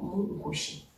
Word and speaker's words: Mkushi: Souvenez-vous, le si est souvent prononcé chi, donc Mkushi.